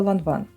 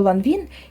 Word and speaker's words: Lanvin: Французьку назву ланван багато хто вимовляє на англійський манер абонвін, або ланвін. І це начебто вважається неправильним, бо в французькій мові ця літера і - це щось посереднє між а та е.